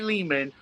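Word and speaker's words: Lehman: So, yes, me, Ari Leman, rhymes with demon, the first Jason for he's from Friday the 13th.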